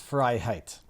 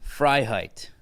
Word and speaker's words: Freiheit: It is Frei phonetically because it's half of my last name, which is Freiheit. Viva Frei. Freiheit. Okay. Yep. Freiheit, which means freedom, verbatim in German.